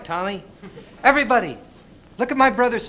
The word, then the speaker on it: Tommy: want to play with commie Smothers you knew my name was Tommy you could have said it right but you didn't you could have told him it was Tommy instead of commie I know that now